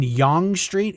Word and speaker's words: Yonge Street: Is it on Yonge Street? Is that how you pronounce it?